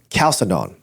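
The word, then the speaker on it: Chalcedon: to the council of Calcedon or Chaledon. How do you pron How do you How do you say that? C. Oh, it's a C sound. Calcedon.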